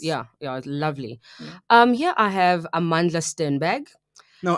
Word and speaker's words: Amandla: Here I have Amandla Sternberg. No, Amandla. Say it right. Darling. It's Amandla.